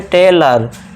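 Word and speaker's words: tailor: जब वर्ड के लास्ट में ओ एन या फिर ओ आर आए तो ओ को अ से पढ़ना है। अनार वाले आ का साउंड देना है। ओ आर आ गया तो इसे क्या पढ़ेंगे? टेलर।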